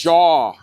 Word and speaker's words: Jaw: Jaw. Jaw? So, it's like the movie Jaws without the S. Got it. Jaw. Like like people jawing at you.